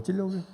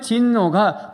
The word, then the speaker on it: 진노: 이로 말미암아 하나님의 진노가 어떤 분은 하나님의 진로가 그러는데 진로를 먹었던 생각이 자꾸 나는가 봐요. 진노입니다. 진노. 이 발음을 잘못해가지고 진로. 예. 자, 하나님의 진노가 불순종의 아들들에게 임한다 그랬습니다.